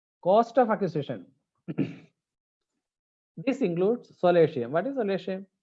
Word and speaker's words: solatium: This includes solatium. What is solatium? Solatium. I pronounce it as a solatium. It is a Latin word actually.